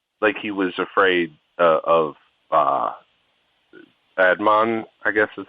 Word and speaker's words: Adnan: I mean, he was afraid of going to jail, but not like he was afraid of Adnan, I guess is how you say his name. I don't know. Adnan, that's it.